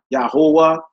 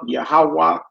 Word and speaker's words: Yahweh: I'm saying Yah, Yahuwah, Yahuwah, Yahweh. Different type of pronunciation.